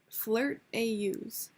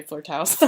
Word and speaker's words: flirtaus: How do you pronounce her at? Flirt AUs. My ass really was gonna say flirt house.